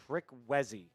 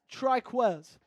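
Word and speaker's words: Trikweze: Trickwezzy. I'm going to guess it's not Trickwezzy. Oh, wow. It's Triquez.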